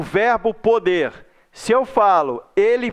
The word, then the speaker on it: pode: O pode, você pronuncia com som aberto. O pôde, você pronuncia com som fechado. Então esse acento circunflexo está aí para dizer que o som ali é fechado.